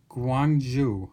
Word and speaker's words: Gyeongju: And the Dabotap Pagoda is located in Gyeongju, I believe is how you say it, and